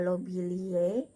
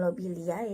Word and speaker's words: Lobeliae: Kemudian contohnya ada lobelie, nah bukan lobeliae tetapi lobelie.